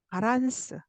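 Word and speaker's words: バランス: 예를 들면 이거 한국어에서는 밸런스라고 그러는데 일어에서는 바, 바란스, 바로 발음합니다.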